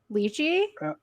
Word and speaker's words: lychee: I've heard some people pronounce it lychee, but Yeah. usually it's lychee, I Okay.